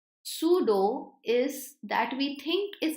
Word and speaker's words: pseudo: Pseudo scientific. This word, if you don't know, P is silent. Pseudo is that we think is present but it is not.